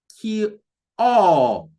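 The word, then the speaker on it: kioo: It's not pronounced as Q, but as ki-o. Ki-o. So giving the double o, the sound, oo, like a word like school, pool, it's a very common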